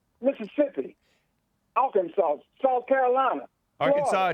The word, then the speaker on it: Arkansas: I'll consult South Carolina Arkansas doesn't have an s-sound at the end of it just correcting hey I